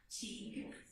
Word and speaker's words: Teague: Pronounce that for me. Teague.